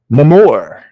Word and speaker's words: Namor: All right, so next up, for anyone who is interested in some Namor books, Namor the Submariner, or should I say Namor?